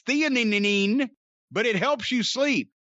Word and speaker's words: theanine: like magnesium rishi i-theanine i don't know how to pronounce that and nano cbd it's theanine but it helps you